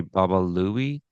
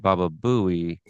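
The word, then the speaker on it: Baba Looey: It's supposed to be Baba Louie and he said Baba Buouie.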